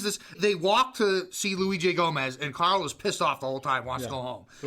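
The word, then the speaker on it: Luis J. Gomez: By the way, I just want to tell you, it's Louis J. Gomez. I made the same mistake and got called out for it. Oh. It's very important you pronounce his name right or he goes after you.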